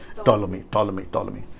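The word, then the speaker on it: Ptolemy: दरअसल सेलेकस और टोलोमी, right pronunciation, टोलोमी, सेलेकस और टोलोमी के बीच में यरूशलेम है।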